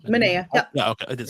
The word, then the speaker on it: Manaea: Manaea.